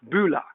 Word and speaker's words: bula: how do you pronounce these well bulla is pronounced bula and nisambula is nisa bula vanaka vennaka venaka